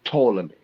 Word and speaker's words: Ptolemy: It's Ptolemy. That's how you say it.